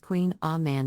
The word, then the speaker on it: Kouign Amann: variation on a traditional pronunciation Queen Amon is pronounced Queen a man in French the name can be a bit